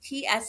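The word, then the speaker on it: Tsalagi: I am Salanchi and Taino, and Salanchi is I'm saying that phonetically. It's Tsalangi. And that is the name for the Cherokee Nation that we call ourselves.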